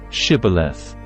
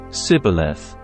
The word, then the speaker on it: Shibboleth: If the man said, "No, I'm not," they would tell him to say, "Shibboleth." If he was from Ephraim, he would say, "Sibboleth," because people from Ephraim cannot pronounce the word correctly.